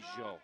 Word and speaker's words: Peugeot: We have Noah Peugeot in the truck. He likes to be called Noah Piggott, but I don't like the way that sounds, so it's Peugeot. It's French.